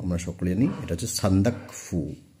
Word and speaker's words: সান্দাকফু: তো এটা তোমরা সকলেই জানো, আমরা সকলেই জানি, এটা হচ্ছে সান্দাকফু। অনেকে কি উচ্চারণ করে সান্দাকফু, তো সান্দাকফু নয়, এটা সান্দাক শব্দটা অন্য। ঠিক আছে, সান্দাক শব্দটা অন্য, সান্দাকফু, এটার উচ্চারণটা এভাবে হবে, সান্দাকফু।